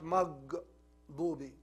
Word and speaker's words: المغضوب: Look, مغ, not مغضوبي. No. مغ. And ضوبي, not دوبي. It's ضاد, full mouth, but dal, it's empty mouth, soft. Here is not soft, he's heavy, full mouth.